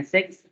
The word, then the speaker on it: six: six six si ya Please don't pronounce si si and six are different jadi antara si and si itu berbeda sick It means that sakit sick tapi kalau anda if you pronounce to be six ya It's me number